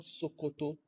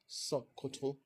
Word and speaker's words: Sokoto: So it's not Sokoto. It's not Sokoto. It's gonna have something that sounds a little bit like schwa and with a glottal stop, Sokoto.